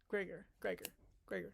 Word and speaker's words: Gregor: Gregor. That's how you pronounce his name.